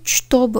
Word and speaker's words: чтобы: Onu чтобы olarak yazıyoruz ama ЧТ birleşiminde ШТ olarak okuyoruz. Bunu unutmayalım. Чтобы değil, чтобы diyoruz. Ш olarak telaffuz etmemiz lazım. Чтобы.